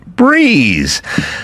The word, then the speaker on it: Brez: a hangover meet breeze spelled b r e pronounced ounced breeze.